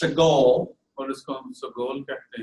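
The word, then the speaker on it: segol: It's pronounced sagol.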